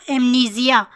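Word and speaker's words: amnesia: यहाँ एस नहीं जी प्रोनाउंस होगा, एमनीजिया।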